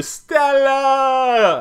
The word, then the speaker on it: stella: And yes, that's actually the way you pronounce it. You have to do stella.